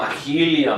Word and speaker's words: Marilia: Oh, Mahilia. My bad.